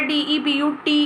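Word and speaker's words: debut: पर मत जाइए का यह मत सोचिएगा कि यह तो डेप्ट लग रहा है डी ब्यूटी की आवाज दे रहा है इसका रजिस्ट्रेशन हमेशा ही डेब्यू होता है आपने सुना भी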